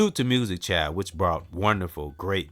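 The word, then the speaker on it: Musiq: Music Child, which brought wonderful, great music.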